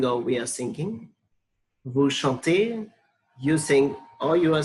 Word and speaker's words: chante: So don't pronounce when there it ends with ENT, don't pronounce it as chantant. It's chante.